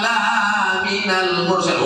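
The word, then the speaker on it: لمن المرسلين: Tapi bacanya panjang pendeknya mesti betul. Innaka laminal mursalin. Oh, artinya jauh. Innaka laminal, lamnya pendek.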